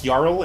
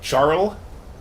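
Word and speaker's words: Jarl: language uh like scandinavian the j is pronounced like a y which is why the word url is yarl and not charles so the mod is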